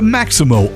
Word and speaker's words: Maxymo: The Maximo app, which is spelled Maxymo, it helps Uber, Lyft, and Grubhub